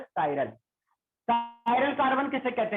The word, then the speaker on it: chiral: कायरल carbon, इसे कुछ बच्चे चिराल भी पढ़ सकते हैं, CHIRAL चिराल, बट इट्स नॉट चिराल, इट is pronounce as कायरल।